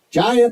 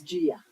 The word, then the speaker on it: Gia: Jaya Crow now. I believe we decided that was Russell's. It's Gia. Gia, I'm sorry, Gia.